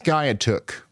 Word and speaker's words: Skiatook: It's pronounced Skiatook.